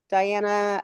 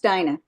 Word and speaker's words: Diana: here Dominique John's here Diana Alexis is that correct it's pronounced Dina yeah Dina sorry Dina